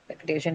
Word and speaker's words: repetition: Repetition takes it on the penultimate syllable because it has a shenan suffix.